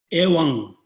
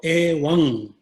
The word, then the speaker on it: evam: Within the mantra of dependent arising, at the end, evam, or evang. There's a 2 different ways you can pronounce.